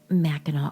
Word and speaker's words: Mackinac: Not only that, but the witch trials happened at what is now one of Michigan's most picturesque and popular tourist destinations, Meno Island. Now, it's spelled Machinak, but we all pronounce it as Meno.